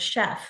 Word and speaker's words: chef: Think about the word chef. It's a French word. We use CH to spell that sh sound.